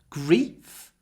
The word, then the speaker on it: grief: verb grief grieve I hope you can hear the difference in the in the vowel sound grief the vowel is short before an unvoiced F grief grief grief but grieve there's a lot of Y before the voice sound V grief grieve grief grieve